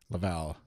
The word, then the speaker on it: Laval: Laval is how English Canadians pronounce it, but okay, Laval.